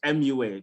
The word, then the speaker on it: roboMUA: you for is is robo moi is it pronounced yeah you can say but it's mua because of the abbreviation of the makeup artist yeah but yeah it's